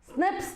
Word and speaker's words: SNP: single nucleotide polymorphisms yes how do we pronounce it Snips they are right human largest Gene the